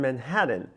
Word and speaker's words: Manhattan: We tend to pronounce the T's in Manhattan a little bit with more with D's. But the pronunciation of Manhattan usually is without any T sound, period, here in New York City.